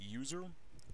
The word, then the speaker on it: usr: or service, sys, temp, usr, which is often pronounced user, but stands for Universal System Resources, and var.